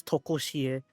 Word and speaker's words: Tokoshie: But no, the pronunciation is Tokoshie on this song.